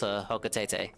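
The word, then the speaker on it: Hocotate: And I looked up how to pronounce Hokatete. It's pronounced Hokatete.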